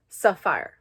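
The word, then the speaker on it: Safire: Saphir eye color sapphire it's spelled SAF ir e so sapphire but that's me an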